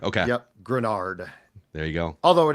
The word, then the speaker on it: Greenard: uh point of reference it's grenard grenard okay yep grenard there you go although